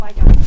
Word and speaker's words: Weigand: Weigand. Weigand. Yeah. Weigand. Yeah, like a V, Weigand, and a harsh T.